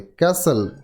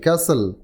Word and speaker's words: castle: শব্দটি টি কিন্তু সাইলেন্ট থাকবে। ক্যাসেল, CASTLE, ক্যাসেল।